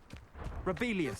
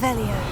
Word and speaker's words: Revelio: Rebellious.